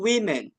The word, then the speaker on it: women: pakai two women Francis tapi dibacanya adalah two women two women nah ini bacanya ini woman yang pakai a ini woman yang ini adalah Women Women ya teman-teman seperti itu